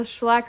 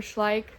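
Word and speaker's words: Schleich: Farm stuffed animals or the schlack or schlik people pronounce it both ways horse toys those are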